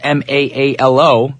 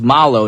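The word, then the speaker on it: Maalo: Yes, it's spelled M-A-A-L-O, but the name is pronounced Malo, not Ma'alo. That's what I thought it was. I thought it was like some Hawaiian word.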